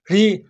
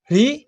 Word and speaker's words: ऋ: ऋ का उच्चारण किस प्रकार से होता है? उत्तर जीभ को ऊपर को और पीछे की ओर मोड़कर और ऊपर छत पर लगाने से मुर्दा से लगाने से इसका उच्चारण होता है।